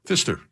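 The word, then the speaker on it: Pfister: button bar button bar that's not how you pronounce it though how do you say it Fister barely no anything else you guys need no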